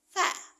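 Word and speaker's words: ف: Fa keluarkan anginnya. Fa fi fu baf. Kenapa dikeluarkan angin? Karena sifat yang pertama yang dimiliki oleh huruf fa adalah hames. Hames adalah ee angin yang dikeluarkan saat huruf di keluarkan.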